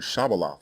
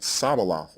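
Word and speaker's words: shibboleth: of our people were taking up the Canaanite pronunciation of the word Shabaloth, which means stream, and saying it Sabaloth instead. And the text emphatically states that they were pronouncing the word incorrectly.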